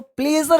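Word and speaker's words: pleasure: तो हमने क्या कहा, you should say इट्स माय प्लेजर, इसको प्लेजर बोलते हैं, लेकिन घबराने की, प्लेजर बोलो, प्लेजर बोलो, प्लेज। अब जिसके बताया होगा कि आर साइलेंट होता है, लेकिन ये साइलेंट पढ़ाऊंगा आगे, है ना, आगे बात करूंगा आपसे।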